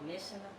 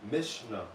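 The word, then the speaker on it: Mishnah: authorative document or instructions who wrote The Miss Moses m pronouncing it right yeah Moshe and the judges and the elders so it is believed that it's called mishna mishna m i s m i s h a n a h is no m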